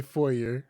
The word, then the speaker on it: foyer: oh yeah oh yeah don't say four yay attempting to make the elegant entrance to a home so extra fancy with a french pronunciation however you can say foyer i was waiting for